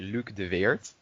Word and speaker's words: Luke de Weert: name properly is it luke dewort uh like how we say it in the netherlands we say luke de vert but like how you